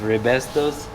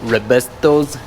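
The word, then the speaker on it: Raybestos: be clean nice with RI bestos is how you say it re bestos frictions they're better than what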